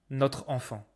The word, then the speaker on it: notre enfant: Technically not liaison mering notre enfant. notre enfant. I'm not saying this. I'm saying notre enfant.